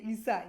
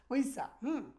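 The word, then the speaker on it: 의사: করে আর কি, ইসা এটা অ্যাডভান্স লেভেলে যদি আপনি উচ্চারণ করতে যান সেটা হবে ইসা ইসা, হ্যাঁ। আর আমরা যারা বিদেশি আছি আমরা বলবো উইসা, উইসা।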